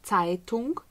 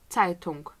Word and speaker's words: Zeitung: Потім у нас є літера «z», як у слові «Zeitung». Зверніть увагу, ми знаємо цю літеру з англійської мови. Ця літера – це не «з», це «ц». «Zeitung», «Zeit».